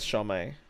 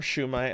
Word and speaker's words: shumai: That's how I was with shami or shumai as I learned it's pronounced.